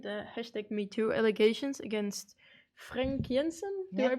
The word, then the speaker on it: Frank Jensen: So I just mentioned the hashtag #MeToo allegations against Frank Jensen. Do I pronounce it right?